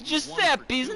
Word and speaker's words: Giuseppe: Giuseppe does not like the way you pronounce Giuseppe's name. Except I'm not a Giuseppe, I'm Giuseppe.